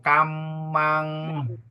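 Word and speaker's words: kāmaṃ: Kinca, piso, kamang. Kamang. Okay, another thing is M with the dot is pronounced as NG also, okay?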